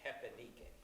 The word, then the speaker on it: repenique: This is spelled repenique, is how you spell it, but because it's Portuguese, the R's have an H sound. So they're called repenique.